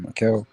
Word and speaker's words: Mikal: So, what do you think about Mikal Brown Jr., man?